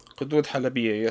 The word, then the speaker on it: قدود حلبية: Kadud Halabia. قدود حلبية.